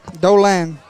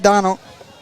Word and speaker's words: Dolan: How you pronounce it? Dolan. Not Donald.